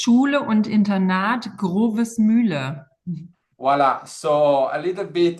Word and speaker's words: Grovesmühle: So Andrea, can you pronounce correctly the name of your school, first of all? Absolutely. It's Schule und Internat Grovesmühle.